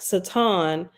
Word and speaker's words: Satan: and read this again the Hebrew word Satan pronounced Satan means opponent or adversary and